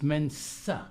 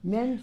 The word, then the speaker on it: Mensa: Okay, first of all, it's Mensa. Mensa. But that's okay. Okay. It is often mispronounced.